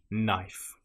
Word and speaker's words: knife: If you have the letters K N together in that order, again, you probably won't pronounce the K. A common example will be knife. It just starts with a sound N. Knife.